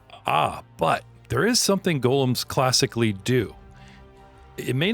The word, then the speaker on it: golem: Doug but I love how you call it Gollum as in as far as I know the pronunciation of the creature is Golem what Golem you're going to come for me